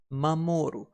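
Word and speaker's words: 守る: else with a shield we pronounced to protect or to guard as mamoru and it's fairly easy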